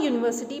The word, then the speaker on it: university: But a university because university begins with a consonant sound YU.